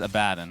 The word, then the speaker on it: Abaddon: got i got confused the correct pronunciation is abaddon i've had this conversation